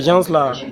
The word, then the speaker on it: gens: Souvent, quand je regarde, je me dis que ces gens-là, ils n'aiment pas la vérité parce que. Alors, déjà, ce regarde, dernier-là. Alors, regarde, je vais t'apprendre le français. Le S ne se prononce pas.